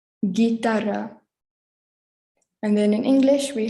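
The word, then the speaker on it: guitarra: and our third one is followed by a u so it's the same as the english g ga so it's gitara gitara and then in english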